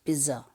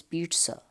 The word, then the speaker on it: pizza: I double Z II so if we you know try to pronounce it the way it is written it becomes pissah but we know that it is not visible it is pizza so we write it